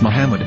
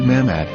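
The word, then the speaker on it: מחמד: no AF the H according to Ben yehuda's Hebrew English dictionary it is correctly pronounced as Muhammad not mammad so how we're going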